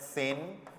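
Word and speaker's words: zehn: 10 के लिए यूज करना है सेन, जेड का साउंड से होता है, ई तो ए से, एच साइलेंट रहेगा, ने, सेन।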